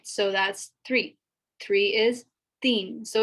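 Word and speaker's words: تین: three is theme so it's like i've written it out as dean like a teen like a teenager or something uh but it's pronounced it's not pronounced with the t sound it's pronounced with a a sound so i understand that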